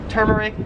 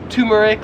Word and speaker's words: turmeric: spice right here so i would pronounce this as turmeric however in australia they would pronounce it as turmeric like you have a tumor turmeric turmeric you get